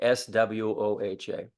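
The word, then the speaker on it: स्वाहा: have Omi Maha and even though it's spelled SV a in the transliteration all the Tibetans say SW like s w h a so that's that's basically what I'm going with all right so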